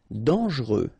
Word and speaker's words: dangereux: Dangereux. Final X not pronounced, and then don't really pronounce this E here. Okay, so you get dangereux.